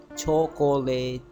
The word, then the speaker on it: chocolate: Here the first word CHO and the CO, this O, it gets schwa sound.